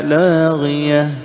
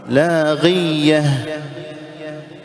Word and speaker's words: لاغية: الصورة السابعة تشديد المخفف، العكس، هنا تخفيف المشدد وهنا تشديد المخفف، مثل قول الله سبحانه وتعالى لا تسمع فيها لاغية، بعضهم يقول لاغية، يشدد الياء، الياء هنا ساكنة، انزين، هنا نفس الشيء